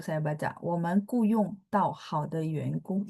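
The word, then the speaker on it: yan: gitu UN kung bukan Y E n enggak ada ee bahasa Mandarin enggak akan ada Y E n pininnya un Y U A N G O N G Kalaupun ada itu Y A N bacanya misalnya yen cing the yen.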